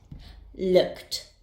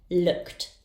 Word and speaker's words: looked: And finally, we have look. Its sound ends in k. The ed ending will be pronounced as t. Looked, looked.